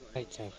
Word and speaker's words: Zaitsev: Can I get the exact pronunciation of this guy's surname? Zaitsev. Zaitsev, got it.